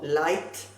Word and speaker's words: light: Pero si la GH va seguido de una T, la GH no se pronuncia, pero la T sí, como light, right y night.